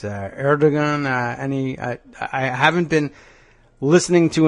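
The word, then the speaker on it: Erdoğan: How does he pronounce that name, by the way? It's Erdogan.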